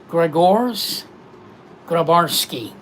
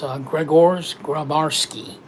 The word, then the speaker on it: Grzegorz Grabarzski: I'm going to say his name correctly now, Grzegorz Grabarzski, otherwise known as KOMBOU. This is from Bestech Knives and knife designer KOMBOU, otherwise known as Grzegorz Grabarzski.